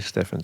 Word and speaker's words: Stephan: Cameron Stephan, I think it's pronounced. I keep saying Stephen as well, but yeah, it's actually Stephan.